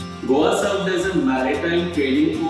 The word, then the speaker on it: Goa: The Portuguese named this region as Goa, rhyming with the Portuguese capital Lisboa. Goa served as a maritime trading port to a number of kingdoms before the Portuguese.